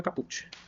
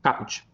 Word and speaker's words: caput: É caput ou é caput? Deixa eu perguntar para a mulher do Google. Bora falar em latim. Caput. A pronúncia correta de caput é caput.